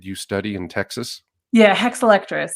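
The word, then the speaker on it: Hexalectris: And then you you study the rare actually to do it justice, can you pronounce the name of the rare orchid? you study in Texas? Yeah, hexiletris.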